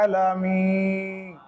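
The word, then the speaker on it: العالمين: পাশে জজমলা ইয়া মদের হরফ এক আলিফ টান আলামিন আলামিন নুন জবর না আলামিনা তকফ করার কারণে এখানে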